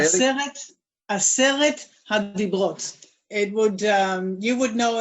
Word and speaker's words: Aseret HaDibrot: Pronounce that for them and then tell them what. Why not? Aseret Hadibrot. Say it. Aseret Hadibrot.